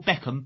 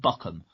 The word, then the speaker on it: Beckham: and call Con you don't call Beckham buckham as far as I'm concerned